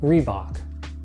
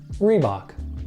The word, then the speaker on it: Reebok: quite as big as Nike this one is pronounced Reebok three Bach Reebok next up a fast food staple here in